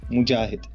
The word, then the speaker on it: Mojahed: Hi, for you and for your audience, you can pronounce my name as Mojahed, M-O-G-A-H-E-D, Mojahed.